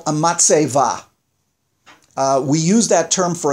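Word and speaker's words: מצבה: Now, in Hebrew, they're called a matseva. We use that term for a tombstone today in Hebrew. That a tombstone in Hebrew is, in Yiddish pronunciation, it's a matseva.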